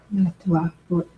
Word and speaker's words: NunatuKavut: Amy, it's nice to hear you say you're NunatuKavut in more of the way that the Inuit elders have said that is more of the correct pronunciation.